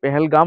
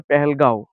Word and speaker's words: পেহেলগাঁও: উচ্চারণের সমস্যা যেটা হয় পেহেলগাম বলেছি তো পেহেলগাম নয় এটা হবে পেহেলগাঁও সরি তোমরা সেটা মেনশন